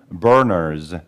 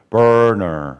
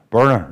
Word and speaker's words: burner: 또는 burners 이렇게 됩니다 여기 그 R 사운드가 있는데 R 사운드 있을 때는까지 일단 발음을 충실히 내 줘야 돼요 너무 습지나 하지 말려고 하지 말고 burner 하지 말고 b까지 일단 발음을 충분히 내주고 R 다 나오면 n 다음 수를내는 거야 burner 이렇게 되면 됩니다 너무 빨리 가려고 하면 안 돼요 bner 너무 빨리 가려고 하면 힘들어요 burner b까지 안전하게 내주고 그게 나오면 다음 수를내는